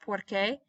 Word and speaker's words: porque: I have a test notice both of these are pronounced porque want us together though